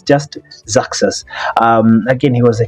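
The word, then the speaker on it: Xerxes: Persia again that that name is hard to pronounce but it's just zakas um again he was a king of that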